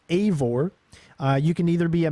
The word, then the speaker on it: Eivor: So the main character is pronounced Eivor.